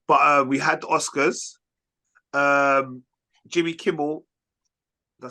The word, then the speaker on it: Jimmy Kimmel: Jimmy Kimmel.